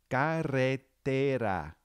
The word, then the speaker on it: carretera: Okay, we have ca and then re. You hear that trill? Te and then ra. Carretera. All right, spell that one. Okay. The ka would be a C-A. The re would be a double R to make that trill.